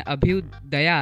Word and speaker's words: अभ्युदय: Obviously अभ्युदय Mohan भैया को, क्योंकि उनके नाम में लास्ट में अभ्युदया आता है, मतलब उसको प्रोनाउंस अभ्युदय जैसा करते हैं लेकिन दया आता है ना।